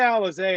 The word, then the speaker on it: Alize: miranda alexay uh yeah i think a lot of people mispronounced her last name but miranda alize i've seen her wrestle